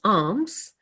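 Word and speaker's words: alms: if it's it's interesting if I say Al L Ms it's arms um like you're giving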